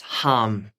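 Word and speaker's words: HAM: the color blue, and saying the words hum, H-A-M. So all you would do is just breathe, thinking of the color blue, and you'd say hum, hum, hum.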